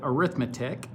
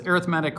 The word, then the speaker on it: arithmetic: spells it might also you might also hear teachers call it arithmetic because that's certainly how it's spelled i've heard instructors call it both things but they are one in the same whether it's arithmetic or it's arithmetic a few definitions to